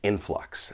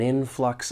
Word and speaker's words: influx: it may not survive when pronouncing this word there are two syllables the stress is on that first syllable but one thing I